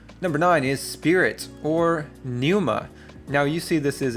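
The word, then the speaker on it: πνεῦμα: The P or the pi right here becomes silent. And so, we have pneuma. Now, notice this right here, these two vowels in a row do not create a diphthong. So, it is ne u ma, neuma or pneuma, which is spirit.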